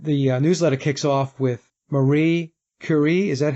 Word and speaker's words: Marie Curie: And the newsletter kicks off with Marie Curie. Is that how we pronounce her name?